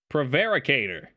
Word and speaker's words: prevaricator: How to pronounce provocateur? Prevaricator.